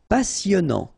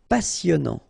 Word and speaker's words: passionnant: Passionnant. Final T, not pronounced. Passionnant.